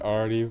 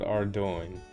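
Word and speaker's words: Ardougne: I call it Ardu, but I don't know how to say it. Ar. So, it is called Ardoin. That's pretty freaking I would have never said it like that.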